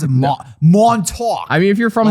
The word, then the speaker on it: Montauk: all these occurrences are collectively known as the montauk project this is where i wish i had